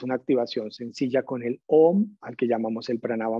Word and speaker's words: Om: La primera es una activación sencilla con el OM, al que llamamos el Pranava Mantra. Simplemente pronunciarlo conscientemente, dándole predominancia a la M.